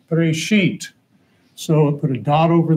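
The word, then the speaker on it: בראשית: So here you got B, R, silent letter, S, H, Y, T, Bereshit.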